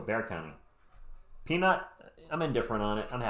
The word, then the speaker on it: Bexar: And San Antonio's in Bexar County, but it's pronounced Bear, so Bear County.